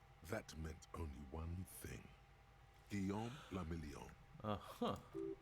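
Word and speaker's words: Guillaume Le Million: Guillaume Lamillion. Uh-huh. If it doesn't rhyme, you're not pronouncing it right.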